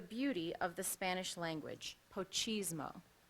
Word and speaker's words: pochismo: Poquismo. Are there any alternative pronunciations? There are not. Poquismo. Can you repeat the word? Yes, the word is poquismo. I'm sorry, I pronounced it wrong. Pochismo.